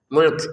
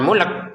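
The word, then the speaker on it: مُلْك: Mulk ada nafas keluar mulk seperti itu. Jangan mulk. Enggak boleh kita baca mulk ya. Tetap mulk huruf lamnya sukun. Huruf kafnya juga terbaca sukun karena berhenti.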